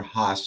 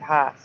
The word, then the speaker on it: Hass: about an ad for Haas avocados. They say it that way every time. Mm-hmm. Well, even though it's spelled Hass, I still hear people pronounce it Haas.